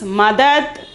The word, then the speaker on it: मदद: The pronunciation is madad.